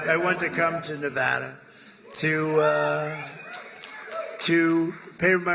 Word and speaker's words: Nevada: you're not allowed to do that you you mispronounce the name you got a problem you ever see somebody when they say it's Nevada Nevada no they're they're in deep they're in deep